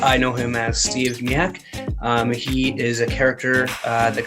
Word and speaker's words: Zmijak: Zmijak. It's me, Jack Zmijak. You know what?